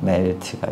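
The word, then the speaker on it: Meld: 이제 3가 나왔고 그 다음에 멜드, 멜트라고 읽더라고요. 독일어라서 멜트가 있고 그리고 뭐 에이블튼 라이브 10점 몇에서 나오긴 했지만 드리프트도 모르시는 분들도 있으실 것 같아요.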